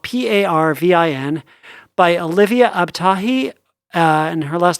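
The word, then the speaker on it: Abtahi: called perfectly parveen uh spelled p-a-r-v-i-n by olivia ab-tahi uh and her last name is spelled a-b-t-a-h-i awesome that sounds delightful yeah um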